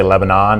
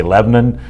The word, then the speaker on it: Lebanon: to the next level can I congratulate you on the correct pronunciation of Lebanon you know if you're a citizen of the world you say Lebanon if you're son of the